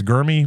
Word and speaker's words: Germie: It's spelled Jeremy. Or Gurmy. Sorry. Germie. It's Gurmy Bernard, wide receiver out of Alabama, 6'1", 206 pounds.